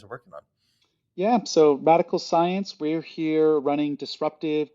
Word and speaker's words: Radicle: that's been done before radical is spelled r-i-d-i-c-l-e kind of like particle and that spelling of